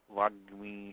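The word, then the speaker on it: वाग्मी: So really there should be double ga. But what happens is that the ga plus ga is, the pronunciation is almost the same as single ga. So that's why they drop one ga out of that. So to make it Vagmi, should be Vagmi. Vagmi is the correct form.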